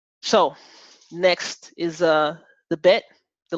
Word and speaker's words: Bet: So next is the bet, the letter bet. You could spell it B-E-T, right? Bet. That does not mean Black Entertainment Television. Bet. And it's b as in boy.